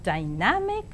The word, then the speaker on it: dynamic: I know that you have read these words as dynamic, academy, academic, but now I would say that these words are pronounced as dynamic, academy, and academic.